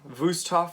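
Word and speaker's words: Wüsthof: a hinkles zwilling or wusthof vustoff i suppose would be the correct german pronunciation or victorinox themselves even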